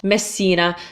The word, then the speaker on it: Messina: box but you just you just need to hold the S basically it's not it's not very complicated for this word so Messina so think about the